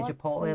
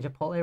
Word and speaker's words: Chipotle: Do you say Chipotle like here?